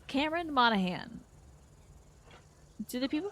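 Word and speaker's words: Monaghan: the whole word deal and also the g is silent okay so it's Cameron Monahan do the people pronounce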